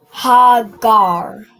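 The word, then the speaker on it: הגר: So you have this last part is gar and the first part is what? Hagar. Hagar. Perfect. All right. You pronounce this as hagar.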